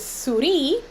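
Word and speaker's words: Souris: husband was in college there's a town in pei that's spelled s-o-u-r-i-s uh which in french is suri which means mouse so when he was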